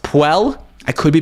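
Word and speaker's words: Puell: indicator it's it's pronounced it's p-u-e-l-l so i would say it's pronounced puel i could be pronouncing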